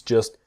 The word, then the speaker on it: just: Things just shouldn't be so complicated. and things just shouldn't be. So the T in just is silent and the T in shouldn't silent. Things just shouldn't be so complicated.